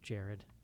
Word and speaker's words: Jared: He told us it's just pronounced Jared over Twitter or something.